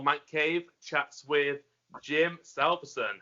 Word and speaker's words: Salveson: I've kind of always said it's Salveson, like in this quick way, but it's Scandinavian and it's Salveson, I think, if you pronounce it properly.